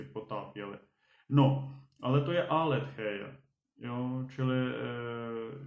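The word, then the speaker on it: ἀλήθεια: Aletheia, ale my to budeme číst tou erasmovskou výslovností, tou, jako řekněme, evropskou, takže aletheia.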